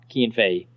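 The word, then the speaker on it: Cian Fahey: Wait, is that how you pronounce his name? Yeah, it's Kean Fay.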